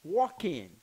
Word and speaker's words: Joaquin: I even can't pronounce it. Let's see if I can. It is Joaquin.